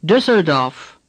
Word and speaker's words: Düsseldorf: The letter U with two dots over it is pronounced Ü. Düs. This sound does not exist in English. The way to learn to say it is to pretend there was an I and not an ü.